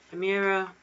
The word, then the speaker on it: Chimera: Angolan, Kalugo, Chimera, or Hellbender? Wait, the third one's pronounced Chimera.